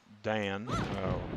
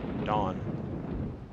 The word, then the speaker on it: dan: to a yellow belt second Dan dawn depending upon how you wish to pronounce it I've heard it counts both ways my instructor pronounced it as dawn that I've been told